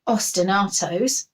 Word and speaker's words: ostinatos: I was off school we learned about ostinatos you can remember it because it rhymes with squash tomato your music teachers going